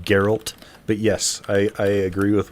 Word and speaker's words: Geralt: hot one waiting for you his name is Gerald it's pronounced Geralt but yes I agree with what you're saying